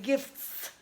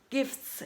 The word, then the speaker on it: gifts: 3 consonant clusters and your friend dropped the T sound naturally because it was very uncomfortable to pronounce T in here it's very a lot of movement in your mouth if you are trying to say gifts gifts it's almost not possible in that case t